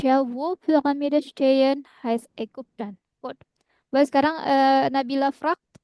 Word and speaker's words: Ägypten: Nah, tapi bacanya bukan Egyptian ya. Somen. Dia pakai A umlaut ya. Hmm. Bacanya Ägypten. Ingat U ya. Hmm. Lagi Entschuldigung. Upsilon dibacanya U. Pyramide Ägypten ya. Y di tengah menjadi U kalau bahasa Jerman bacanya.